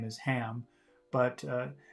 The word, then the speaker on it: Ham: her nephew's name is ham but uh some people especially in the UK don't pronounce H's very much so instead of saying ham she's saying am am to play with Peggy